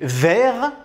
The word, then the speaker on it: vert: Donc, au masculin, on va écrire le T, mais on ne va pas le prononcer. Et au féminin, on va rajouter un E, et là, le T, on va le prononcer.